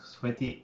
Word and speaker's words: Sveti: the health master podcast my guest today is sweaty this is the right pronunciation on coming right yes that's right she